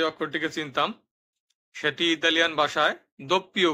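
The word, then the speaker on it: vu: পড়েছি ইউ সেটাই ইতালিয়ান ভাষায় উপরে ভু যেটাকে আমরা ইংরেজিতে পড়েছি ভি কিন্তু ইতালির ভাষায় হবে ভু সর্বশেষে আছে জেত্তা যাকে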